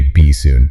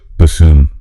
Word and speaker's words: bassoon: I think the temptation is to say be soon. Like a fish that's arriving shortly. Please don't. No, the stress is on that second syllable, and the double O makes a long U sound. So it's bassoon. Bassoon, like balloon.